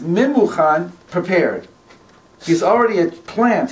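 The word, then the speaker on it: ממוכן: It's written in the Megillah, the first time that Haman appears, his name is Memuchan, and it's written Mumkan. Mumkan means Mumkan, blemish here. Wow. And it's pronounced Memuchan, prepared.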